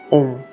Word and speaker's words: Aum: É o atual M da misteriosa e mística palavra do brahmanismo, Aum, pronunciar Om.